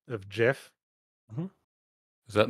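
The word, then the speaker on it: Geoff: of Monmouth where it's spelled g e o FF but it was always pronounced Jeff saying g off it's weird um you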